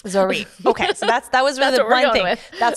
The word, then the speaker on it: Zoryve: opinion leader on the matter here, but the pronunciation 99% I think it's Zoriv. Zoriv. Okay. So, that's that was one thing that's what we're going with. Dr. says Zoriv, so it's Zorie.